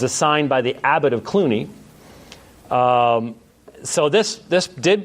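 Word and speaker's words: Cluny: of the big names has nothing to do with actors because it's spelled differently but you have the reforms that clooney william of aquitaine founded a monastery at clooney the colonial system involved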